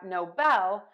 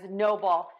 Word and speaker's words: Nobel: and not seen before and then we have no Bell which is an award that is conferred for great benefit to human kind so in the U.S there was a person who mispronounced the name Nobel as Noble can totally see how that would happen especially